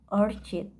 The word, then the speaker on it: orchid: And the sentence stress in the word orchid, not orchid. The word stress is on kid, so it should be said orchid, not orchid.